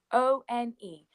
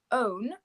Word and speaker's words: one: We don't say so one as in the number one, O-N-E. We don't say own, we say one. And so the first sound we hear is a w, one.